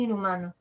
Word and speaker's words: inhumano: no cómo sería en inhumano a ver la H no suena hago de cuenta que no está la n que está entre la Ah y la u pasa con la segunda y nu siguiente sílaba nu ma nu Ya ahora sigamos viendo